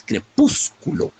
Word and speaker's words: crepúsculo: y lo mismo es crepúsculo. Pétalos, crepúsculo, pétalos, crepúsculo. Son palabras muy acentuadas, con acentos muy incisivos, y ambas son esdrújulas, de modo que las últimas 2 sílabas son débiles.